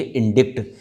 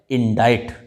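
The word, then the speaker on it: indict: अगर आपने पहले ये वर्ड नहीं देखा होगा तो निश्चित ही इसके लिए आप कहेंगे इंडिक्ट, this is नॉट इंडिक्ट, इसे प्रोनाउंस किया जाता है इंडाइट, इंडाइट, है ना।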